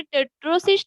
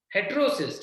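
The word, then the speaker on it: heterocyst: हेटेरोसिस्ट होगा, HETER, हेटेरोसिस्ट। हेटेरोसिस्ट लिखा है उसमें ट ओके सर। हो सकता है स्पेलिंग मिस्टेक होगा। हाँ हाँ टेट्रोसिस्ट लिखा है। हाँ हेटेरोसिस्ट, टेट्रो नहीं, हेटेरो, हेटेरो। ठीक है, आहुति बोल रही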